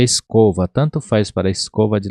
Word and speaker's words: escoba: Então, escoba, aqui você não vai pronunciar escoba, você vai pronunciar escova, como se fosse a escova de dente. E quer dizer vassoura. Então, essa pronúncia seria escova, dessa maneira, escova.